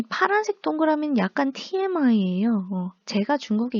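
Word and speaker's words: 发: 8은 중국어 발음으로 빠라고 하는데 중국어에 돈을 벌다에서 벌다에 해당하는 표현이요. 파입니다. 8은 빠, 벌다는 파, 발음이 비슷하죠.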